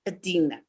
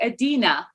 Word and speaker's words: Edina: you today so without further Ado let's meet Adina did I pronounce your name right yes that's perfect Edina okay great you would think after we were